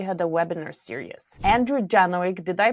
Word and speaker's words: Janowczyk: Andrew Janoig, did I pronounce your last name well?